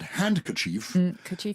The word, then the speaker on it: handkerchief: is h-a-n-k-i-e yes but handkerchief your hand yeah but then you don't pronounce the d so it's a silent d wednesday you don't pronounce